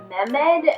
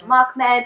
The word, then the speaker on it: Mehmed: Like Mahmed's name, I think I was saying it more like Mehmed instead of Mahmed.